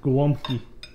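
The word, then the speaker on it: gołąbki: Just say today we're making gwomki.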